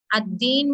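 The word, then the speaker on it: الدين: ये अद्दीन में देखें अद्दीन में अलिफ लाम है यहाँ पे, ठीक है, अलिफ लाम है जो कि हम प्रोनाउंस नहीं करेंगे, अद्दीन है।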